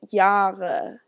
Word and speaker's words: Jahre: So there are words, the word for year starts with a J, it's Jahre, and it's Jahre. Jahre, because the J does not make a J sound, it makes a y sound.